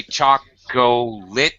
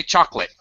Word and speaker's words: chocolate: in words like chocolate English speakers don't say chalk goal it we say chocolate that's ellipsis we can